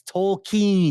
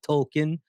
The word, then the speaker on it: Tolkien: It's Tolkien, not Tolkien. It's Smaug, not Smog.